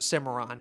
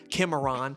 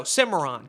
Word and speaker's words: Cimarron: And yes, it's pronounced Simmeron, not Kimon, not Cinnamon like from the Applejacks commercials. Not Stallion of the Cinema Beats Productions. Kimon. No, Simmeron.